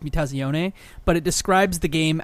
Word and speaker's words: Mutazione: that not only says the right way to pres pronounce the the game which is meaze but it describes the